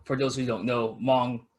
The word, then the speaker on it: Hmong: Also, for those who don't know, Hmong is spelled with an H. Yes, Hmong.